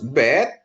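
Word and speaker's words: בית: Ee terus bet ya, tanpa titik di tengah dia jadi P ya. Bet ada titik di tengah jadi B ya.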